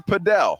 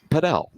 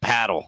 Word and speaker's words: padel: I was like well how do you say and she's like well if you want to be right pel if you just want to be you know an American goofball go king of paddle paddle yeah yeah mhm